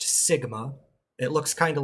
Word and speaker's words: sigma: and some variance the variance is this it's pronounced Sigma it looks kind of like a since it's